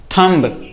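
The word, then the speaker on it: thumb: यहां पर साइलेंट है। कौन ये? बी। इस बी को हमें नहीं पढ़ना होता है।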